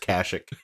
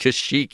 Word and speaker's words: Kashyyyk: three wives in no world would it be pronounced kashuk right now it's pronounced kashyyyk either yeah i don't know i'm just i'm